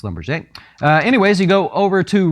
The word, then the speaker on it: Schlumberger: You could say Slumberger, but it is pronounced Schlumberger.